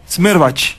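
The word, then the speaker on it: Schmerbach: Yo estoy como Smerbach. Qué difícil mi apellido. ¿Cómo se escribe, claro, para se que la gente... S-C-H-M-E-R-B-A-C-H. Smerbach.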